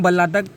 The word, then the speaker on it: भल्लातक: Okay, Hindi में से बिलावा बोलते हैं, संस्कृत में से हम बल्लातक ऐसा वहाँ पे प्रोनाउंस करते हैं.